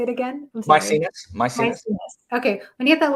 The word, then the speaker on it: Maecenas: Sorry if I'm saying his name wrong again, but how do you say it again? Maecenas.